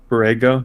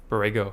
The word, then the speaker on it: Borrego: bismack biambo no the head coach i think brego brego borrego yeah borrego yeah well why did you do that i